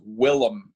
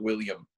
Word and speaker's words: Willem: Before we finish this podcast, I want you guys to know that his name is Willem and not William Dafoe.